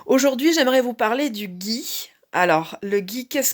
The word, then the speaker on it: ghee: peut-être déjà entendu parler alors ça s'écrit gh2 eu parfois g h i rien à voir avec le gui j'ai eu un vous